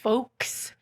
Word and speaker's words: folks: of you or folks folks right if you're gonna say the folks one you can't pronounce the l i just pronounced it